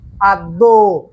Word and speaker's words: আদ্য: এই অটার উচ্চারণ হয়ে যাচ্ছে ও এর মতো। তার মানে এই যে জফলা, এই জফলা বেয়াদবটা থাকার কারণে অ আর উচ্চারণ হচ্ছে না, উচ্চারণ হয়ে যাচ্ছে ও, আদ্য।